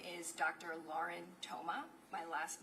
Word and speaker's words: Thoma: Lauren Toma. My last name is spelled T H O M A.